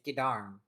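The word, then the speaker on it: Geddarm: It's I'm saying Gdam and I'm saying it wrong. It's Gdarm.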